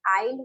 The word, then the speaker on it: aisle: अच्छा फर्स्ट पहली बात तो दोनों जो है दोनों का प्रोनाउंसिएशन आइल होता है, ठीक है, आइल आइल। हाँ दोनों का मतलब आइल हो, मतलब दोनों का प्रोनाउंसिएशन होता है आइल।